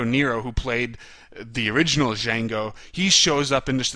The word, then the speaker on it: Django: and then he says Django the D is silent while the conversation in